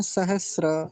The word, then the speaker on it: सहस्र: तो सहस्त्र नहीं बोलेंगे, सहस्र ऐसा होता है।